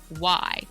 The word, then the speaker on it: Klickly: Clickly, by the way, is spelled with a K. It's Klickly, like clicking quickly, shoved together, and then with a K.